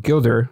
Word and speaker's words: Gilder: And today I'm with Tom Gilder.